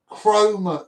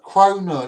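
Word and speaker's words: kronor: Swedish chroma. Croner. That's it.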